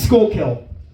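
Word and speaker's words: Schuylkill: Uh can you uh pronounce that? Yeah. Yeah. It's going to be uh Shirill. Yeah, it's school kill.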